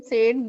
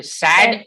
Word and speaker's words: said: They said they were going to build another school. Said is how we pronounce the word, guys. Said. Said, nice. Said. Said. Said. Okay. Sad.